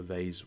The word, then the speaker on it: vase: know if you are printing a vars or a vase depending on how you pronounce it um there is